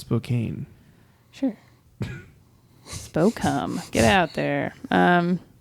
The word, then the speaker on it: Spokane: pronounced Spokane.